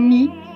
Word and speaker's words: me: Eu, me o mi, se puede pronunciar mi, aunque se escriba con E. Recordemos que la E al final, sin acento, ni cerrado, ni abierto, circunflexo o acento abierto, puede sonar como una I.